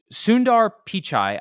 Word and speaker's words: Sundar Pichai: a big lesson this week okay so s Sundar pichai I believe is how you say it he